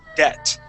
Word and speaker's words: debt: first sentence okay and that be is going to be silent okay the word is debt debt debt debt okay uh the b is silent so that's not going